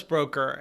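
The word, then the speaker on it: Broecker: climate scientist wallace broker is that how you pronounce his name yes wallace broker and uh there's a quote from him that's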